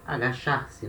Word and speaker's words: agachar: O verbo agachar se escreve igual ao português, mas na hora de falar se fala agachar, né, esse CH com esse som de chá, né, chico, né.